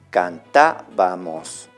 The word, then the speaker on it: cantábamos: Dice cantábamos, es decir, contando las sílabas de atrás para adelante, sería la tercera, donde está la mayor elevación de voz.